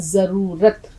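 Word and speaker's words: ज़रूरत: नहीं होता है, बल्कि लफ्ज होता है जरूरत। जेड की आवाज, या फिर हिंदी में अगर आप देखें तो जा पे बिंदी, जेड, ये जरूरत। देखिए मैं यहां लिख देती हूं, जरूरत। उच्चारण पर जरूर ध्यान दें।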